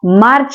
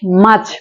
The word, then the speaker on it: March: ঠিক আছে, এখানে আর এর পরে যে সাউন্ডটা আছে এটা কিন্তু কনসোনেন্ট সাউন্ড, কনসোনেন্ট, যে কারণে এখানে উচ্চারণ হবে না, আর কিন্তু এখানে উচ্চারণ হবে না। ঠিক আছে, কারণ এটা সাউন্ডটা হচ্ছে কনসোনেন্ট সাউন্ড, এজন্য আমরা মার্চ না বলে মাছ বলছি, মাছ।